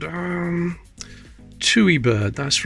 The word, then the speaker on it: Tui: what's that called um chewy Bird that's right a Tui bird I think that's how you pronounce it two t-u-i that's nice condition 1958